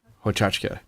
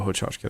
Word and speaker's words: Hochachka: Hochachka, Gail Hochachka, that's right, from the ACIT program, which is